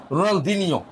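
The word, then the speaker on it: Ronaldinho: রোনাল দিনিও রোনাল দিনিও দিনিও দিনিও এইটা উচ্চারণ পর্তুগিজরা করেন পর্তুগিজরা এই উচ্চ এভাবে বলে রোনাল দিনিও রোনাল দিনিও গুড তাহলে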